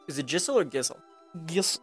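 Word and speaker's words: Gysahl: Gissel. Because it's spelled G-Y like gypsy.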